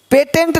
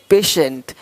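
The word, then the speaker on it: patient: देखो पेशेंट, पेटेंट नहीं पेशेंट, पेटेंट पेशेंट, पेटेंट पेशेंट, तो श पेशेंट।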